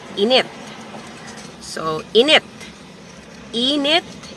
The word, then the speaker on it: init: it a different way in it so the stress is on the second syllable it also means hot but in a different way it means that your